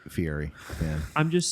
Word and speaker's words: Fieri: guy fieri is pronounced he said fieri with an r fiery fan i'm just saying